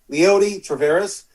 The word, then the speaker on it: Leody Taveras: Leody Taveras.